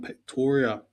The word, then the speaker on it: Pretoria: we spun it and it was Escape from Ptoria. Yep, that's how it's pronounced.